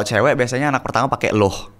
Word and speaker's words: Luh: Kalau cewek biasanya anak pertama pakai loh. L u h. Loh. Loh, jadi ni loh. Niluh. Niluh. I luh. Oh, gitu antara u sama o gitu loh bacanya. Bukan loh, bukan luh.